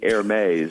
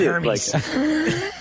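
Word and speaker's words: Hermès: We do not own any Hermes, which I believe is the pronunciation in the Harding household. No. Okay. At my house, we just call it Hermes.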